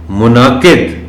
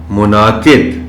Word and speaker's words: منعقد: پڑھا جانا چاہیے۔ ملک، منعقد، اب اس لفظ میں اگرچہ نون کے اوپر جزم ہے، لیکن نون اور عین دونوں کو بڑے واضح انداز میں پڑھا جانا چاہیے۔ منعقد، منعقد، مختلف، یہ لفظ بھی